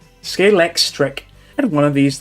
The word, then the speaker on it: Scalextric: I couldn't even pronounce that as a kid. It was like Scalextrix. Scalextric.